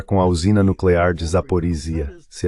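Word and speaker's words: Zaporizhzhia: eles vão ficar com a usina nuclear de Zaporisia, se é assim que se pronuncia. É, obrigado, Zaporia.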